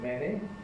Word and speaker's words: many: There are just one or two little traps, words like many, spelt with the letter A, but pronounced not manny, but many, and likewise any.